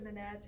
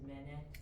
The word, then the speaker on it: Manette: Menet. Miss Met. My bad. Miss Manette.